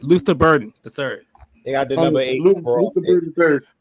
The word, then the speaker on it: Luther Burden: weapon, and I wonder if they could get Luther Burton the third. Am I saying this right name right? From Yeah, you Missouri. said it right. Yeah, you said it right. Luther Burden, the third.